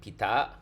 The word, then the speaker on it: Pita: announced prime minister and Pita okay that's how you pronounce the very young prime